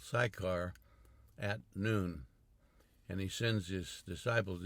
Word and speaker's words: Nun: A lot of people see it spelled in English, N-U-N, they'll say none. It's not none, it's noon.